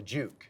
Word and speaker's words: Juke: Yes, it's the Juke. Yeah, it rhymes with puke.